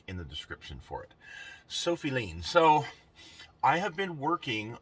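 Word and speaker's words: Sofi Lien: The name of the channel is Sophie Lean, S-O-F-I, and then L-I-E-N, I believe is how it's spelled. I'll have a link in the description for it. Sophie Lean.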